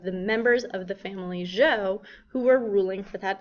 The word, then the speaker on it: Zhou: The Zhou Dynasty, and that ZH is pronounced almost like a J, that was around 1000 BCE.